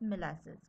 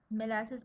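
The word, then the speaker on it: Malassez: Epithelial rest of सिरेज reduce enamel epithelium और epithelial rest of मेलासिस। ठीक है? मेलासिस पढ़े इसको मालासिस पढ़े। व्हाटएवर में प्रोनाउंस।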